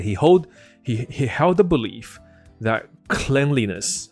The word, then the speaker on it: cleanliness: ，你就会以为变成 cleanliness。可是不是，这个字的名词发音是 cleanliness。OK， cleanliness 就知道就是 OK。